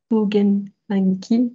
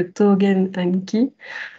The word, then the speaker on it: Tôgen Anki: On a voulu, parce qu'en fait, en écrivant T-O-U, quand on est francophone, on est plus tenté de prononcer tout, Togenanki, que Togenanki. Et donc, on s'est dit pour en fait vous inciter à le prononcer de la bonne façon, on va choisir finalement la retranscription, des règles, de suivre une des règles de retranscription de japonais. Je crois que ça respecte la règle Hepburn, non?